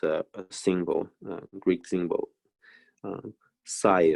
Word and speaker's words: psi: single greek symbol uh psi or plus i and depending on where from so the pronunciation is slightly different so i usually call it psy subside as a function